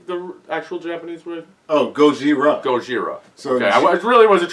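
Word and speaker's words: ゴジラ: do you say the actual Japanese way oh goira goira okay was really wasn't trying to be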